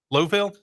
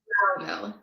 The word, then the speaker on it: Lowville: So, how do you pronounce your hometown? Lowville? Loudville. Loudville? Like cow. Loud.